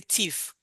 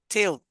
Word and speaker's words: Thiel: I wanted to say thief because if you put F at the extreme end, that becomes what? So, but Thiel.